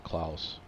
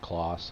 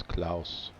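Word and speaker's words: Claas: my favorite is the K Claus that's how you pronounce it not K Claus it's K Claus German brand and you it's really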